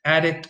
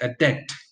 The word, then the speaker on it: addict: So you have the noun, which usually receives the stress on the first syllable, and the verb, which usually receives the stress on the second syllable.